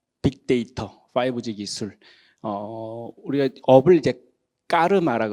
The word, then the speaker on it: 까르마: 5G 기술 우리가 업을 까르마라고 그러죠 영어로 표현할 때 카르마라고 영어권 사람들이 표현을 했었는데 원래 까르마가 맞는 말이죠 편하신대로 발음하면 될 것 같고 그래서 우리 디지털